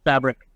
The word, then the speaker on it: FBRC: adviser for a company called fbrc pronounced fabric they're an incubator here